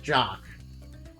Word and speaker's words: Jacques: Yeah, apparently his name is actually pronounced like Jock. Instead of, like Jacques, yeah.